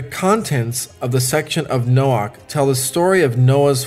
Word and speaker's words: Noach: noah in the hebrew the name noah is pronounced noah the word noah is related to the hebrew